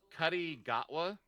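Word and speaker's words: Ncuti Gatwa: say it's like Cuddy Gatwa? Because the N is silent, right?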